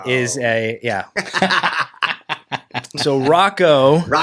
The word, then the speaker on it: Rakau: Oh, it's been everything from Raal or Rocco was definitely not Roco. Roku was one, right?